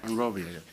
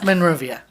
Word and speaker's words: Monrovia: game from Burbank Kai and they're playing Monrovia Monrovia you just said it right yeah yes sorry I just brain I just remember she mentioned something at manuia and if they win what's next depends who